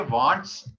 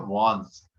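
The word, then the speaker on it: wands: तीसरा सेट है वांस, इसको प्रोनाउंसिएशन होती है वांट्स, लेकिन मतलब स्पेलिंग है इसकी वांट्स, लेकिन प्रोनाउंसिएशन उसकी होती है वांस। इसमें डी साइलेंस होता है, इसको प्रोनाउंसिएशन हम ऐसे करते हैं वांस।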